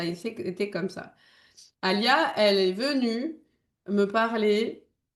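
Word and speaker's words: Aliyah: Alia, elle est venue me parler avant bien avant aussi que je sois enceinte hein. Et elle me dit "Maman, je m'appelle Alia."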